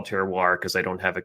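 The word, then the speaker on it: terroir: And even though it still took me maybe eight years to say it correctly, that would be teroir, you know, that that still that that's kind of the definition of it.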